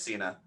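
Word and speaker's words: Thasina: cena what it nope this one's easier to pronounce nope yeah that's cena there we go t-h-a-s-i-n-a which is her name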